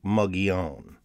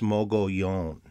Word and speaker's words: Mogollon: think it's right so i don't care if people want to say muggy own that's not how the name is pronounced it's mogollon there i've drawn a